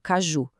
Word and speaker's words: caju: Agora, e uma palavra como caju? A sílaba forte é a última, ju, mas como termina com a letra U, ela não leva acento.